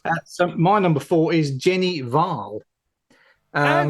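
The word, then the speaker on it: Jenny Hval: And that was before I researched because she has a silent H in Yeah. front of her name. So I said Jenny Val, and it's actually Jenny Val.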